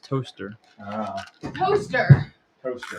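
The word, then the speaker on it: Towcester: town spelled that looks like Toastester, pronounced toaster. That's today's comments. It's how to pronounce that word and also mushrooms No. and lentils. There's a town called that's spelled like Toastester, but it's pronounced toaster.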